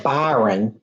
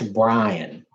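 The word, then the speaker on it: Bryan: I always want to say Byron, but I think it's Brian because it looks like it's spelled Byron, but it's not. It's R-Y.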